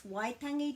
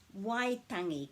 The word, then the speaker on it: Waitangi: here's how to pronounce waitangi correctly why means cry or sound or noise and this isn't tangy wai tangi the vowels are pronounced and we always put a break after every vowel so it's waitangi day